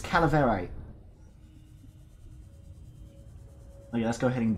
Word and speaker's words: calaverite: It was, Calavite. Calaverite. Calaverite. I'm going with that pronunciation. It's Calaverite.